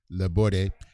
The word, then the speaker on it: Laborde: The second pronunciation was correct. The E is pronounced Laborde.